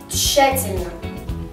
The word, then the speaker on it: тщательно: произносить следующие слова вместе тщательно мы произносим как ч ш то есть мы не произносим Т тщательно а нужно правильно